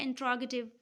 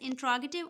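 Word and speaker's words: interrogative: For example जैसे word है इंट्रोगेटिव. अब ब्रिटिशर्स इसको प्रोनाउंस करते हैं एज इंट्रोगेटिव, ऑन the other hand American इसको प्रोनाउंस करते हैं एज इंटेरोगेटिव.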